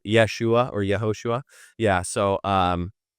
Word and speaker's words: Yeshua: the his it would actually be Joshua if we if we actually pronounced it like we transliterated it one to one from the Hebrew Yeshua or Yahosua.